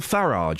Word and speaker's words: Farage: There's even Nigel Farage, because that's how it's pronounced, apparently, wearing a Help for Heroes band. Yeah. But I say garage, so that doesn't help me.